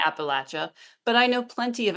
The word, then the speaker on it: Appalachia: ask I know that an awful lot of Appalachians believe that um Appalachia is the correct way to pronounce it and that if you were to say Appalachia that's the you know that's the word that the oppressors would use um and there are